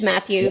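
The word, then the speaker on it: Mathieu: your guitar player met is it pronounced matau or uh mat yeah no yeah it's just French Matthew Matt Matt ball yeah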